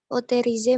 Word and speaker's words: autorisé: Autorisé, madame. Jadi di OT itu O bukan E.